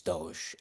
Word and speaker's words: DOGE: job um with the I always pronounce it dogy but it's Doge uh the Department of